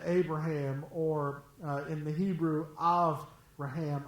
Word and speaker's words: Avraham: Man, I can't wait to get to heaven and talk to Abraham, or in the Hebrew, Avraham, Av with a V, not with a B.